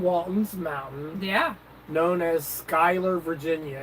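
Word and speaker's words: Schuyler: Mountain yeah known as Skyler Virginia it's spelled funny it's spelled s c h u y l e r but it's pronounced Skyler and it is so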